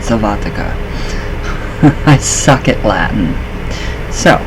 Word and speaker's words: sylvatica: Sylvatica. That's how you say it, Sylvatica.